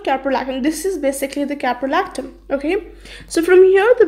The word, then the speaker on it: caprolactam: see a piero l AC d am this pronounces caprolactam okay what the rest structure how it looks